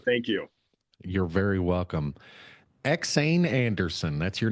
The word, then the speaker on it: EksAyn: they get off that you said it perfectly it's xan and I got to